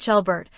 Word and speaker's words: Albert: In German, Albert is pronounced ah Albert with a slightly longer and more open sound than in English, and the L is more distinct.